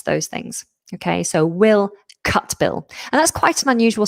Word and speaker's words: Cutbill: Now, I have actually been dropping the T. I don't know if that's how Will would want his name to be pronounced, but because we've got a T and a B, Cutbill, the T would automatically become more glottal. We drop it, Cutbill.